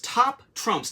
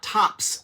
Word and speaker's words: Top Trumps: And I do always want to say it wrong. It's Top Trumps, not Tops like the card company Trumps.